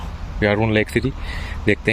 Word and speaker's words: Jarun: असल में ये लोग जे को वाई प्रोनाउंस करते हैं, तो जारून के बजाय इट्स यारून।